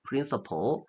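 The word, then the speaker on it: principal: 프린시팔이라고 적어놓고 실제 발음은 똑같습니다. 프린서플.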